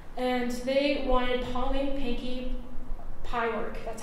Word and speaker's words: Pyork: And they wanted Pauline Pinky Pyork, that's how you pronounce it, Pyork, because they thought that she was the better shortstop.